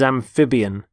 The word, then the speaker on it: amphibian: and the first word is amphibian amphibian notice the stress on the middle syllable amphib amphibian they're animals such as